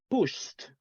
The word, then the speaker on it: pushed: When we have these sounds like sh at the end, what is the combination for pronunciation? T. T, right? T pronunciation, exactly. Like sh. Let's say this one, the base form, we say push, right? Push. So what is the simple past? We say pushed, pushed, right? After sh, right? Pushed, pushed. That is how you say that, right?